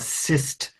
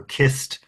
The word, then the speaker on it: cist: the Cycladic culture is what we call a cist grave or kist grave, depending on your pronunciation, and it's where a